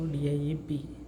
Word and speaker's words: Dieb: So DIEP, it becomes DIEP. DIEP. Here if you see this IE word combination is also there, right? And if you see, IE word gives rise to the sound combination of E, right? So coming here, the sound of this word combinations becomes DIE and BEEP. DIEP, deep, DIE, D, the E, P, the EP, the EP, the EP, deep. It becomes deep, right?